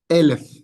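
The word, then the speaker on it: אֶלֶף: Los segolados, los que tienen van a llevar el acento aquí. Entonces, elef. Muy bien. Recuerden, esos que llevan el acento en la primera sílaba.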